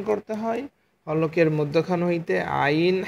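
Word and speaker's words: عين: হলকের মধ্যখান হইতে আইন হা। আমরা প্রথম নম্বর মাখরাজ শিখেছি হলকের শুরু হইতে হামজা হা উচ্চারণ করতে হয়।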